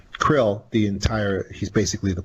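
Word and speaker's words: Kirill: orthodox patriarch of moscow carol krill well it's pronounced krill krill the entire he's basically the Pope of the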